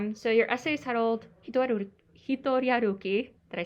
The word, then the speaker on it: Hitoriaruki: So your essay is titled Hitoriaruki.